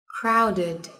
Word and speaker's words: fountain: bật đầy đủ nhé fountain pháo hoa ăn thịt các bạn lưu ý từ này có hai em Thiếp và trọng âm của nó rơi vào âm Tiết đầu tiên nhé cloud cuối